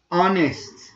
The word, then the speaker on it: honest: Honest, honest, honest. This sound is silent.